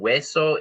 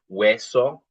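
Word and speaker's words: hueso: Wesso. And then Wo is like a tiny little gap or a hole. Again, this is not a vocab screen. It's just to emphasize that the H is silent.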